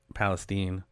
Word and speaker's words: Palestine: Palestine. I don't know why it's Palestine when it's spelled same thing as Palestine.